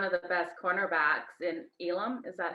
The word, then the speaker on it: Elam: I think you guys have one of the best cornerbacks in Elam. Is that how I pronounce his name? Mm-hmm. Elam.